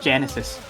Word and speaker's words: Genesis: But yeah, Genesis, I mispronounced his song name as Genius in the match, in the showcase, but it's not Genius, it's Genesis.